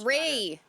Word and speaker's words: Marie: Tokyo one which I always like um the Maria condo one is Marie Marie and now I'm just gonna Marie well